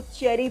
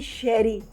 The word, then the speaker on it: Cherie: क्योंकि लोग जो है इसको चेरी प्रोनाउंस करते हैं। हाँ। और इट्स a French name, it's basically शेरी।